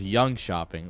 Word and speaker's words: Jönköping: It's not young. You know, it's young shopping. Like, you shopping.